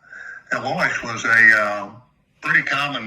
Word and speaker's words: Elois: The actual pronunciation of it is like Elois.